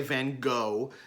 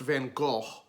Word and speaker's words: Van Gogh: Now, I know a lot of people say Van Gogh. That's the Americanized version of his name. Vincent's Dutch, so his name would be pronounced Van Gogh.